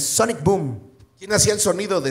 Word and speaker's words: Sonic Boom: Y el pinche, ahí entendí que el Guile dice Sonic Boom. ¿Cómo? Sonic Boom. Nunca hay una A, siempre dice Arek Boo, pero no, es Sonic Boom.